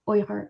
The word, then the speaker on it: Uyghur: lot and in the uyghur language uighur is pronounced oyher so when i say or i mean weakers